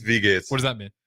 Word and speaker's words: Wie geht's: I don't know how to say it. It's like "Why geht's?" What is that? Wie geht's or Wie geht's? Wie geht's? It's W-I-E. Yeah, it's Wie geht's.